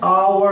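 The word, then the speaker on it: hour: क्योंकि यहाँ पर जो उच्चारण है उसका प्रोनंसिएशन है, वो प्रोनंसिएशन उसका आवर आ रहा है। क्या रहा है? आवर। इसकी शुरुआत जो हो रही है ये आ से हो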